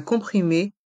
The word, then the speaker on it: comprimé: analgésique un comprimé effervescent le O et le M de comprimé se prononce on un comprimé effervescent dans